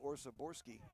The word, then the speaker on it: Orsaborski: That's right, I did just say Orsaborski and it is correct, by the way.